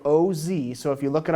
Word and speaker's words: Oz: with us it's spelled oszi so if you look it up online it's like like The Wizard of Oz but O's O's and I'm gonna try